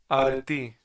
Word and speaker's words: arete: Areti. Arete? Right? I guess so. The Greek pronunciation?